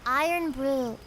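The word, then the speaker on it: Irn-Bru: Pronounced iron brew. It's like a soda and it's really good and very Scottish.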